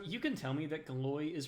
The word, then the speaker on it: Galois: So you can tell me that Galois is pronounced Galois, and I'm aware it's French.